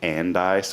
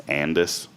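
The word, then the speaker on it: Andice: outside of Georgetown called I always say and ice but someone told me that it's Andis so maybe I'm wrong you know it's one of those type of towns where people say it wrong and it's literally like five minutes away but I always said and dice and someone from there correct me to Andis the old story was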